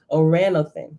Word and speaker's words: Oranothan: I was saying it all wrong yesterday too. Oranothan. That's how you pronounce it.